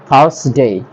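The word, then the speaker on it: Thursday: তারপরে আছে আমাদের থার্সডে, থার্সডে বলতাম, এটা হবে, এখানে আর এর উচ্চারণ হবে না, থার্সডে।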